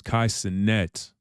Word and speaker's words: Kai Cenat: He can't even pronounce it how it's supposed to be pronounced. It's Kai Cenat.